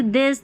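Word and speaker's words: this: टी एच के दो उच्चारण हैं, ये नज़र आए तो थ और द पढ़ते हैं, जैसे दिस दैट दीज दोज रहता है ना, मदर फादर, तो वहाँ पर द पढ़ा जाता है।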